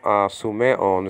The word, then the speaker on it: Sumeon: But basically, some of the letters are the same, meaning are the same pronunciation, So, the first name, Sumeon, is spelled out Sigma Upsilon Mu, sometimes pronounced Mu, nowadays pronounced Me, the name.